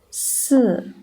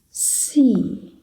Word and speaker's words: 四: you can feel that when you pronounce 四, you can feel your mouth is exerting a horizontal force, right? But it's gentle. While you say C, it's stronger. The horizontal force is stronger, right?